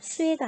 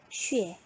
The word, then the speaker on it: xue: 발음은 수에가 아니고 뭐라고요? 쉬에.